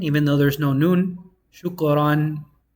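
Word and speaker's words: شُكْرًا: Shukran. Thank you. Shukran. You pronounce it shukran.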